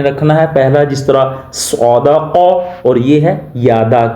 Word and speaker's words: صاد: قا، خالا قا۔ آگے ہے صاد، اکثر لوگ اس کو پڑھتے ہوئے سواد پڑھتے ہیں، جس طرح اردو لہجہ اختیار کرتے ہیں۔ یاد رکھیں، آپ نے اردو لہجے سے پرہیز کرنا ہے، بلکہ عربی تلفظ کے ساتھ اس کو پڑھنا ہے۔ صاد زبر صا، دال